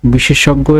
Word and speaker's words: বিশেষজ্ঞ: বিশেষজ্ঞ এর উচ্চারণ হবে বয়সী তালেবা শয়কার তালেবা সৌকার গ হসন্ত গয়চন্দ্র বিন্দু ওকার বিশেষজ্ঞ। অর্থাৎ এইটাকে ভেঙে আমরা এইভাবে উচ্চারণ করি কিন্তু লেখার সময় আমরা এই বানানটি লিখি। পরবর্তীতে রয়েছে পেতাত্তা।